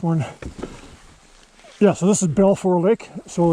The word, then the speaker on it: Balfour: Yeah, so this is Balfour Lake. So it's North Aylen Lake Road. And it's spelled B-A-L-F-O-U-R, Lake. I only started coming in here just this year.